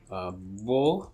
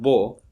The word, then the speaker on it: beau: The same vowel, if it's pronounced with the velum raised, which means the nasal cavity is closed, then you have beau, which means beautiful.